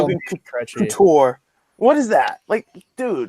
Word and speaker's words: Couture: And now you ruined Kenny and Pierre are saying the same thing, and I'm like, no, it's Couture. Say it right.